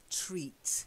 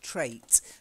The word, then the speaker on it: treat: the next one is a long Eve I eat treats not trate trate is a word TR AIT if you show a particular trait it's like something that's typically you you know a certain traits maybe my laughter is a trait of mine I think annoys some people but I can't help it I just laugh a lot okay so treat try it shiny treat that's it